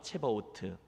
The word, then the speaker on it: 체바오트: 오늘의 설교가 위로가 되기를 바라는데 발음이 좀 어렵습니다. 함께 따라해 주십시오. 만군의 하나님 여호와 체바오트.